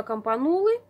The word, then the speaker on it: campanula: группы до колокольчиков campanula произошло от слова кампана итальянское слова с ударением именно вот на второй слог campanula кампана и раньше я говорила campanula теперь поняла что я неправильно говорила нужно говорить campanula вот размножение этих всех